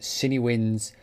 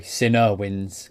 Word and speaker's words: CineWinds: taking a look at cine winds core sorry sinner winds core by sinner samples not cine samples the way I used to pronounce his actual pronounce sinner samples anyway so what we're